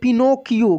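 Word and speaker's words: Pinocchio: यहाँ पे देखिए PIPNO, नो, पिनो। देखिए यहाँ पे सी को हम लोग क पढ़ रहे हैं, ठीक है।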